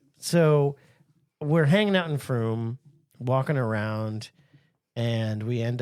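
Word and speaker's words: Frome: No, it's called Froom. And thanks Brad for the heads up because I was able to pronounce it properly and I didn't get labeled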